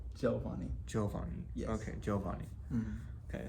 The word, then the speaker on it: Giovanni: Giovanni.